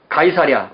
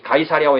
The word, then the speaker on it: 가이사랴: 이후의 이야기를 보면 이 가이사랴와 예루살렘 사이에 왔다 갔다 하는 이야기들이 많잖아요. 자, 그 가이사랴입니다. 이 가이사랴를 영어로 세서리아라고 발음하거든요. 성경에서는 가이사랴 이렇게 되어 있고요. 영어식으로 원래 원어식으로 읽으면 가이사랴입니다.